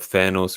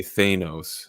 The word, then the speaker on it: Thanos: thanos versus thanos and he would always say thanos and we were like oh no way it's thanos it's thanos it's got to be thanos yeah turns out we're right yeah that was a yeah